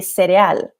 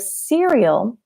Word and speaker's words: cereal: Now this one, if you're a Spanish speaker, you might say cereal. So that can be tough when you have words that look the same but have different pronunciation. So we really want to practice those, to have smoother English. So we have cereal, which sounds the same.